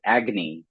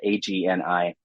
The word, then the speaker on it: Agni: And in 2019, I took on a role as poetry editor for a magazine out of Boston University called Agni. It's spelled Agni, Agni.